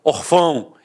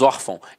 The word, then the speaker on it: órfão: fosse um acento gráfico eu não falaria órfão eu falaria hofão e não é o caso nós falamos órfão então a sílaba tônica